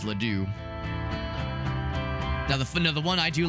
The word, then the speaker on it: Ladue: Because my GPS used to pronounce it as Lodway, and that made me happy. I always liked it when she would say, "Take a left on Lodway Road," but we all pronounce it as Ladue.